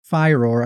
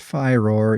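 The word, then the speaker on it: Firor: from Studio director Matt fyro I think it's pronounced fyro even though I always want to say Fior fire uh this is published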